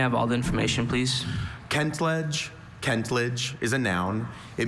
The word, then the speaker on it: kentledge: Kent ledge. Also, Kentledge. May I have all the information, please? Kentledge.